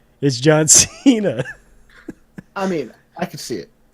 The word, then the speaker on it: Cena: John Cena, meme lord wrestler. What's that? You're saying it wrong. You gotta say John Cena.